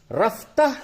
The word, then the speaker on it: رفتہ: رفتہ رفتہ، دھیرے دھیرے. ہجے یوں ہوگا، رے فے زبر رف، تے ہے زبر تہ، رفتہ.